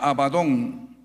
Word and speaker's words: Abadón: Su misma descripción y su sinonimia, hay una palabra también que se pronuncia Abadón, daban al Seol un tinte de pena, de